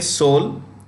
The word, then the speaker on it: Seoul: in a place called Seoul the E is silent okay soul Korea and its CEO